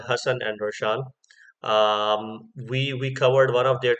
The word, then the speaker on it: Roshaan: I used to pronounce them Hassan and Roshan, but if I'm not mistaken, the duo is called Hassan and Roshan.